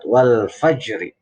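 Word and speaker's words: الفجر: Kalau dibacanya mati, dibaca berhenti waqaf, itu wal fajr, itu maka dinama hukumi huruf apa? Rok tafkhim. Karena di depannya ada bunyi fathah. Tetapi kalau dibacanya sambung wasol, maka menjadi roknya rok tarkik. Wal fajri, tipis. Tapi kalau wal fajar ini menjadi hukumnya rok tafkhim.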